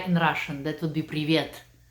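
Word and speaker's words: привет: please say hi in Russian that would be previant how do you say that privyet yes right Ricky Rick years and so mean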